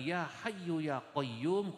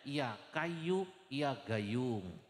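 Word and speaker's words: يا حي يا قيوم: W ada orang wiridan ya hayyu ya qayyum iku saking ora fasih salah dengar bacanya bukan ya hayyu ya qayyum Gus bacanya ya kayu ya gayung ya kayu ya gayung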